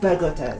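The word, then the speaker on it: Bogotá: Bogota, that's how they pronounce it.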